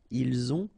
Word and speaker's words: ils ont: the two, vous avez, ils ont, okay, final T not pronounced, and then we make the liaison, ils ont, elles ont.